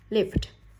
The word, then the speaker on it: lived: Âm cuối cùng của âm live, của cái từ live là âm V. Vậy ED đứng sau V, nó không thuộc hai quy tắc này, nên ED đọc là D.